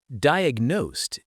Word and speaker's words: diagnosed: Diagnosed is often pronounced like diagnosed with a Z sound at the end.